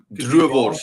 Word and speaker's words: droëwors: I'm thinking it's pronounced duors. Droëwors, yeah.